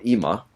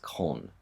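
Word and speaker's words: 今: that the kanji for ima, that's what this is right here up top, this is the kanji for ima, which means now. Another way of pronouncing that is kon or kin.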